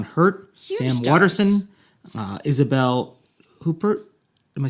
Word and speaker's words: Huppert: Waterston, Isabel Huppert. Am I saying it right? Huppert, yeah.